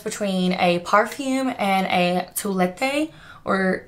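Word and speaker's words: toilette: a perfume and a toulette or it's actually pronounced like toilet in english which is hideous um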